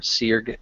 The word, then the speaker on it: Sirk: I'll be playing Sirk Bastardborn, or Sirg, as the pronunciation goes.